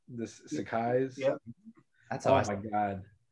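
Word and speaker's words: Sacai: pair of those shoes so bad am i pronouncing that right this sakai's yep that's oh my god i want a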